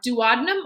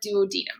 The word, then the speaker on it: duodenum: most digestion happens uh you can have it pronounced two different ways uh duodenum or duodenum i always say duodenum you sometimes hear duodenum as well too so